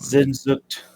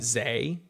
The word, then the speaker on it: Sehnsucht: Zay. You're saying it wrong now. No, I'm not. Sehnsucht. Sehnsucht. Pronounce your S's as Z's.